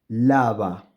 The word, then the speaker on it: lava: I am I am again producing the same sound for both of these and this sound is softer than the bilabial sound Ava lava you may